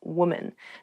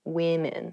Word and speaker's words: women: Even though the singular and the plural form of women and woman have the same spelling at the beginning, W-O-M, the pronunciations are different. Woman, women.